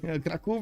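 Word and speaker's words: Kraków: Krakow, we got Krakow. Okay, there we go. I was not bamboozled. Wait. Krakow is how you say it.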